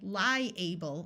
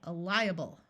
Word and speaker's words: liable: While this word by itself is able, when it's used as a suffix, the A schwas, or takes on a muffled sound that sounds more like a short U or a short I. So we don't say liable, we say liable, viable.